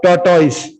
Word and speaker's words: tortoise: So the word T-O-R-T-O-I-S-E is pronounced either you can pronounce it as a tortoise. Tortoise, or you can pronounce as tortoise.